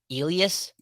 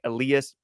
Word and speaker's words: Elias: I think Elias Pettersson, or maybe I'm butchering that last part, but it Elias. had a bit of a sh sound to it when you Elias. pronounce it in Swedish.